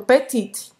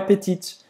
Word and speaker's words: petit: Não é petite. É petit. Petit. Não é petite. Petit. Petit. Ou seja, faz a boca do O e fala E. Tem que fazer um bico. E. Petit. Petit. Não pronuncia tão bem esse T no final.